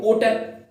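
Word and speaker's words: hotel: Okay friends, मतलब historical को historical, होटल को होटल, इस तरह से प्रोनाउंसिएशन, मतलब हिंदी में ह आएगा लेकिन इनके साथ हम एन लगाते हैं।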